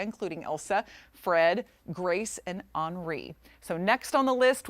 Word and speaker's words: Henri: it gets a little, that Henri thing, I thought it was Henry at first, and then it ended up being pronounced that way.